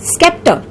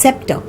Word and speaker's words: scepter: I used to pronounce it as scepter. So it is not scepter, it is scepter.